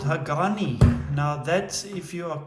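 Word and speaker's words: Hagane: steel so a lot of people sort of pronounce it incorrectly as hagen but it's actually a ghani so it's a steel body total construction is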